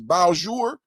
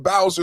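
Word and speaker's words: Bossier: And somebody said the other day, the way you pronounce this is Bowjour. Help me out, Chad. Am I saying that correctly? Bowjour. Yesterday, I was saying Bowser City. And then somebody helped me out with the pronunciation. They said it's Bowjour because, you know, it's French down there, Creole.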